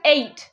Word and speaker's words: ate: at it's pronounced as eight say eight eight yeah don't say at or something you pronounce it eight eight like the number eight right but that's it